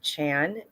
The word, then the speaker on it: Trang: I'm Chan, and it's spelled Trang.